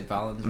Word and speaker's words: Valenzuela: Did I pronounce that right? Valenzuela? I usually say Valenzuela.